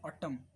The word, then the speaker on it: autumn: मांगते हो आप, राइट, कंडेम, तो इसमें एम साइलेंट है। ऐसे ही AUTUMN, ऑटम, ये एक ऋतु है, बसंत ऋतु, ऑटम, इसमें एन साइलेंट है।